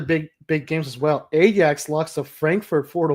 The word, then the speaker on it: Ajax: big games as well Ajax locks to Frankfurt four to one in a six-2 aggregate what was that that's what I said is silent no you say Ajax the J is silent I said bro I